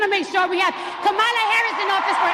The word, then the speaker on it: Kamala: past 3 months saying and it's racist to mispronounce her name. It's not Kamala Harris, it's Kamala. It's Kamala.